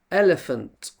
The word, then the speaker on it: elephant: Ali Ellie f elif then we have the schwa the weak sound elephant elephants we stressed the first part and then the weak